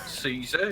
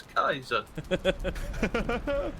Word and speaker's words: Caesar: eyes and leaves yeah he pronounces it with the c it's not Caesar it's Kaiser really judgmental dinosaurs yeah